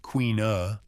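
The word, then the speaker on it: caoineadh: This practice known as kaad pronounced queen uh meaning to weep or to lament was not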